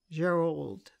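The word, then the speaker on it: Gerold: G-E-R-O-L-D, Gerald, the French pronunciation.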